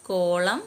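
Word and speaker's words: column: almond Dham അതൊക്കെ അറിയാല്ലോ silent N ആട്ടം കോളം ഡാം അവിടെ എൻ എല്ലാം സൈലന്റ് ആണ് സൈലന്റ് ടി വരുന്നത് ക്യാസിൽ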